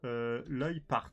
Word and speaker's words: Leupart: Hein, alors, ça s'écrit comme ça, mais je remercie Mama qui m'a mis entre parenthèses. Ça se prononce Leupart.